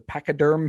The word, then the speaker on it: pachyderm: Boy, Pacaderm. And boy, no, it's Pachyderm.